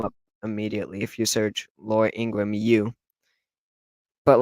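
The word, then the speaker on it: Laura Ingraham: It's Laura Ingram. That's how you say it, Laura Ingram.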